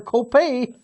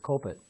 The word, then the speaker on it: Copet: the Week player Carter Copay. Is it Copet? Oh, Copet, okay. Well, it could be Copay, okay. I like that. I like the French pronunciation, I know, Copay. but it's Copet, and the kid's only a sophomore.